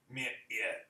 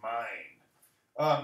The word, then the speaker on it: mind: This is another tricky one because it looks like it should be mit. End. It's mind.